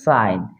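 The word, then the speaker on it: sign: জি এন থাকে সেক্ষেত্রে মাঝখানে জি উচ্চারণ হয় না এর উচ্চারণটা আইনের মত হয় আইন এর মত হয় যেমন সাইন এস আই জি এন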